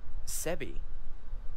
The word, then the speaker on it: Sebi: Sebi? My nickname. It's supposed to be a combination of Sarah and Abigail, taking the first syllable, Se, from Sarah, then the second syllable, B, from Abigail. But, of course, the B sounds like B, not B.